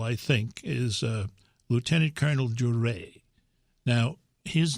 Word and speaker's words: Duret: One of the most likable, I think, is Lieutenant Colonel Duret. Now, his name is spelled D-U-R-E-T, but he prefers the French pronunciation of his name.